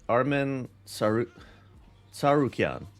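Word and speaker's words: Arman Tsarukyan: mhm uh all right Armen s tarukan they made it clear that's how it's pronounced Split Decision Justice for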